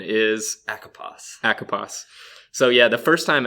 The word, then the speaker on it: ACOPOS: spell ACO POS yes track and the correct pronunciation is a Capas echo pass so yeah the first time actually that I